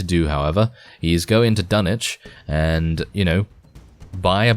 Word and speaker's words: Dunwich: master, or in this case the mayor of Dunwich, which by the way is the correct way to say it.